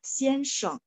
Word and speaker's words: 先生: Nah, untuk pininnya baik yang teman-teman belajar yang Taiwan maupun belajar yang apa sistem pinyin gitu ya, itu sheng, s-h-e-n-g, jadi memang xianseng, bunyi g kok, bunyi g.